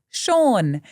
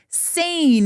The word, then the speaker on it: Sean: And I remember calling out these certificates and the name Sean pops up, right? Which we all know is pronounced Sean. However, my overly confident 12-year-old self very proudly announced to the audience, could Scene please come to the stage to collect his certificate?